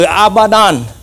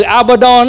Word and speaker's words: Abaddon: không có nguyên âm thành ra cái từ abadon Á có thể phát âm là abadan abadon hồi nãy chúng ta